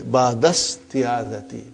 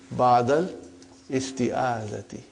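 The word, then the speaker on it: بعد الاستعاذة: So it will say, ba'dasti'azati, ba'dasti'azati. But for simplicity, I still feel that while we are learning, whether we can say ba'dal isti'azati. Ba'dal isti'azati. And when you become very proficient, then you will, inshallah, won't pronounce hamzatul wasal.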